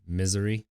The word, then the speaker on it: Missouri: We're from Missouri, and I believe it's pronounced misery.